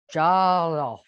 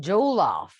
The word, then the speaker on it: jollof: I've been so intrigued about this West African jollof. I'm trying to say it correctly. And I was saying jollof, but my friend said jollof. So I guess jollof.